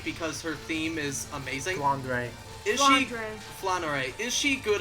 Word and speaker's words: Flandre: only character I know in this series is Flanery because her theme is amazing flandre is Flor is she good or bad there's